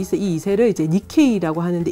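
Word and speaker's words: 日系: 이렇게 정착을 하면 이 사람들이 2세라고 해서 이제 이 2세를 이제 니케이라고 하는데, 일개라는 거를 이제 이런 식으로 읽는 니케라고 읽고, 그래서 이 니케이 음식이 이제 페루에도 어느 정도는 자리 잡았는데요.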